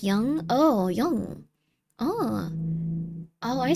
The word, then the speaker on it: Jung: Um, Jung, pronounced like young.